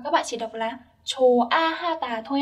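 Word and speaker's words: 좋아하다: Ở đây các bạn lưu ý sẽ không có nối âm chô ha ha ta ở đây, tại vì chữ hò là một âm rất nhẹ cho nên nó không được nối lên và các bạn chỉ đọc là chô a ha ta thôi ạ.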